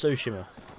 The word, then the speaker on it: Tsushima: We're looking forward to Ghost of Tsushima. Yeah, me too. Or Tsushima. Tsushima, that's more like it. I keep saying the name wrong. I'm sure it's Tsushima. Tsushima.